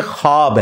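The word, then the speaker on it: خواب: शैतान नहीं आ सकता अच्छा ये लफ्ज लिखने में है ख्वाब ख वव अलिफ बा लेकिन पढ़ने में यह ख्वाब है वव साइलेंट हो जाता है ख्वाब पढ़ा जाता है ये लफ्ज उर्दू में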